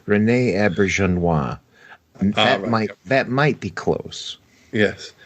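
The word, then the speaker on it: René Auberjonois: We've mentioned his name before, and I can never pronounce it. Rene Auberjonois. Oh, dear Lord! Why can't we ever remember how to pronounce this actor's name? Rene Auberjonois.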